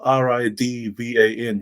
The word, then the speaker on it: Ridvan: name so it's about r-i-d-v-a-n ridvan but because it's my religion is from persia or modern now it's called iran they pronounce their names with a z instead of a d um so that's where